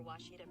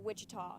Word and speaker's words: Ouachita: oh Akita soon for Washita Baptist University back in Texas everybody pronounces it Wichita but really it's Ouachita Washington how would you